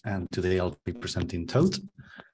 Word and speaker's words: Thoth: today I'll be presenting Thoth. Thoth is named after the Egyptian god of writing, so nobody really knows how to pronounce it. So any attempt is fine, to be honest.